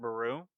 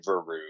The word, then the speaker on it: Beru: Aunt Beru? Yes. And And Owen what's young? Lars. Owen. Like super easy name. I always butcher Aunt Beru. I say Veru or something.